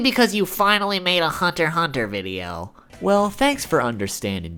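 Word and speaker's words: Hunter × Hunter: I know it's pronounced Hunter Hunter, but I just personally think that Hunter X Hunter sounds cooler.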